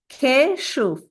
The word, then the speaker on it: Keshuv: My name is pronounced in two parts. First one is Keshuv.